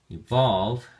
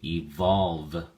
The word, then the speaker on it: evolve: Evolve has two syllables and the emphasis or stress is on the second syllable. So, we say evolve.